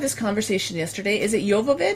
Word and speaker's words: Jovovich: Is it Jovovich? Jovovich. Okay, so Jovovich, it's because Jovanka pronounces it with a hard J.